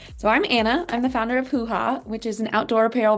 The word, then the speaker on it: Hoohah: So, hoo-ha rhymes with booya.